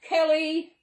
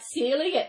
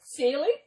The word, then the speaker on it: Cely: do it, it is, I've had Kelly. Even the spelling I've had wrong. Yeah, as you see, it's spelled C-E-L-Y. But the way you pronounce my name is like Celie, S-E-A-L-Y, Celie.